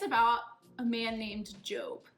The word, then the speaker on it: Job: In our Bible story today, it's about a man named Job. Job is spelled like Job, J-O-B, and his story is so important that he has his own book in the Bible, complete with 42 chapters.